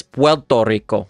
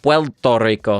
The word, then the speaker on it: Puerto Rico: going to be pronounced, if you listen to a native Puerto Rican, the way that they're going to say it, it's almost going to sound like this: Puerto Rico, Puerto Rico.